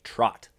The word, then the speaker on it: trot: I came to understand most people are saying it wrong they're saying trout line which is a misnomer it is just a misunderstanding of what is actually called it is a trot yeah my first time